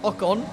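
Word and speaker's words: Ocon: räikkönen and a con and finally pronounced a con correctly it's just one of those things I never think about until people correct me on it so I'll try and say ah Khan from now on while we're at it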